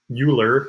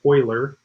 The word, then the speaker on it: Euler: this was discovered by a mathematician named leonard euler and i know you might want to say euler that's how we would pronounce it typically but it's actually pronounced euler and this is called euler's number and it